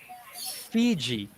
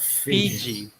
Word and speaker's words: Fiji: but so f so make sure you you pronounce that really clearly uh put some air into it fiji not fiji okay okay and then